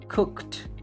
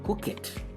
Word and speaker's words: cooked: Que también es sordo Por consiguiente su Ed se va a pronunciar cooked cooked por ningún motivo recuerden no pueden decir Cook it porque estarían diciendo it